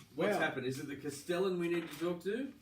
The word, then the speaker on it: castellan: I don't think it's Castellane. He's never said Castellane. He said Castellan.